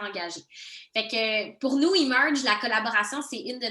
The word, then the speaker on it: Emerge: Là, on dit Emerge en anglais, mais il y a aussi émerge en français. Là, les bons Français de ce monde voudront le prononcer comme ils le veulent.